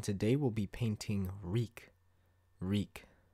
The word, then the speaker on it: Reek: we'll be painting reek reek it rhymes with bleak so for the various